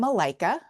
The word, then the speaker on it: Malaika: Um so my name Malikica, which rhymes with Iikica Malikica, uh it actually yeah it uh it actually means angel in Swahili.